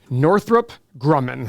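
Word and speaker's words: Northrop Grumman: you stock number three Northrup Grumman that's a hard one to say but that is the correct way to say it let's check this company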